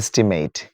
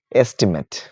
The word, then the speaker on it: estimate: Not estimate, estimate, estimate.